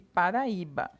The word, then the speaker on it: Paraíba: as palavras Lúcia férias e Paraíba né Lúcia Lúcia são duas sílabas então o look é a penúltima é mais forte a palavra férias o fé penúltima sílaba mais forte para Riba we sozinho faz uma sílaba como é a penúltima